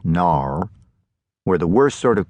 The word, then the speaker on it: noir: a Tennessee noir, which William pronounced Nar, where the worst sort of character comes to town.